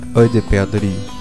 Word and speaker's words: Œil de perdrix: Œil de perdrix.